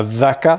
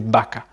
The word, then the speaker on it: vaca: Globalement, moi, voilà, j'utilise B pour dire V, mais c'est un son qui peut être subtil et qui peut prendre voilà, différents sons suivant qui le prononce. Donc par exemple, c'est vaca. C'est pas vaca, c'est vaca. Video, vivir, viento, viaje, venir,